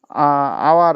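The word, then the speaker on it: hour: বসা উচিত ছিল কিন্তু আওয়ারের উচ্চারণটা আই এর মত হচ্ছে সেজন্য এখানে এন বসলো ঠিক আছে সাউন্ডটা হচ্ছে আওয়ার মানে আই এর মত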